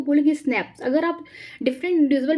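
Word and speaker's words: SNPs: इसको हम बोलते हैं स्नैप्स, single nucleotide polymorphism, pronounce स्नैप्स occur in the human.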